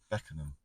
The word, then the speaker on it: Beckenham: Yeah, it was Beckenham. Beckenham, but you never called it Beckenham. Yeah. You called it something else. What did you say? Beckenham. I think I pronounced Beckham or something.